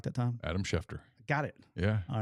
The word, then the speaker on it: Schefter: you know shefter gets on it right I pronounced his name right that time Adam schefter got it yeah all right left at the